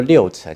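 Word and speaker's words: 鹿城: 那之所以鹿城念作六城，其实当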